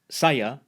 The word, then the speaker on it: saya: kereta, Final a is usually pronounced as a schwa in Malay, at least in Malaysia. A couple more examples. Saya, meaning I, is pronounced, saya, and pertama, meaning first, is pronounced.